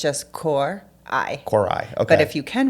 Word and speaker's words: Coray: like record yeah absolutely Kai corai you have to Trill the r a little bit so if you don't roll the r then it's just cor I corai okay but if you